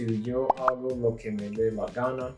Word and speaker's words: Yo hago lo que me dé la gana: So that brings us to Yo hago lo que me dé la gana. That's how you pronounce that.